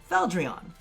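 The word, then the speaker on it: Fieldron: So up north, they would pronounce it Feldrion. Feldrion. However, to localize it, because as many of you guys know, we don't run around asking for croissants when we want croissants, we would pronounce this Feldrion.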